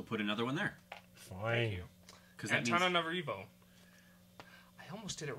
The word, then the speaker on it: Antananarivo: Antananarivo. I almost did it right that time. I think so. You were really close. Antananarivo.